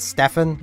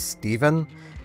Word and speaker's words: Steven: My name isn't Stefan, it is Steven.